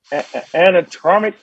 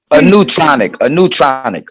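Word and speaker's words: aneutronic: He believes that the dense plasma focus can also be used to produce useful anatromic fusion? Am I saying it right? Anatronic? A neutronic.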